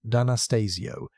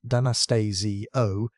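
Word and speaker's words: D'Anastasio: In 2022, a team led by Ruguro Danastasio, pronounced Danastasio, pronounced Danastasio, an Italian researcher who normally studies disease in ancient human remains, published the microscopic workup in scientific reports.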